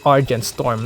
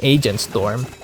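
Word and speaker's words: Argentstorm: it and and yes it's pronounced Argent storm not freaking agent storm another thing I found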